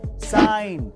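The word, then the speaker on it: sign: Number 3, अगर किसी word में एन से पहले जी आए तो उसमें जी साइलेंट रहता है, जैसे कि डिजाइन, साइन।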